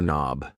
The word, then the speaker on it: knob: A door knob. Yes, the K in knob is silent.